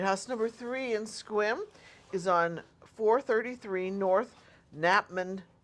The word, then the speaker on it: Sequim: House number three in Squim is on 433 North Napman Avenue. Can I don't think they pronounced the C.